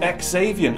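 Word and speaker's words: Xaviant: original bill in a pretty stunning u-turn developers ex avian as I now realize you pronounce it have already pulled the plug I'm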